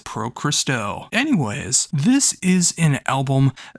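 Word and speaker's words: Pro Xristou: with Pro Christo, and if you don't know how to pronounce that when you look at the name, it is the very first syllables you hear on the album. It says Pro Christo.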